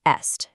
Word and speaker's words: est: The old letter stayed stuck in the spelling though, so today we only pronounce that ancient T as a liaison, like when we say "il est amoureux".